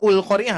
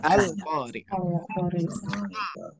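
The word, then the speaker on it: القارعة: Tapi dibacanya bukan ul qari'ah, bukan. Itu bukan doma. Tapi al qari'ah.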